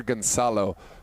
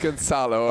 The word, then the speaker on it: Gonzalo: It's Peter Gonzalo. No why. Not as Spanish as we thought it might be. So it's look. Gonzalo.